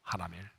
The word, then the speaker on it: 하나멜: 바로 하나입니다 하나 하나 하나면 사는 사람이 아니고 하나멜 발음을 차려야 겠어요 예 예레미야는 어떤 사람이죠